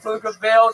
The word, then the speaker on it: Pflugerville: When I say Pflugerville, the P is silent.